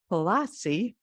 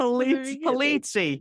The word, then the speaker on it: Polizzi: I'm Italian too, and some Italian names have different pronunciations. So I added a little bit of a different spin to it.